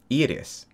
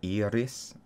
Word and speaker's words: Iris: Iris. Yeah. So it's like double E-R-I-S. Oh, okay. And you roll the R. You're like Iris.